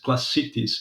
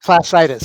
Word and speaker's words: classitis: in your book, is classicities. Is it correct the way I pronounced it? I Classicities? think classitis. It's like Classitis. a Yeah. disease, bursitis or whatever.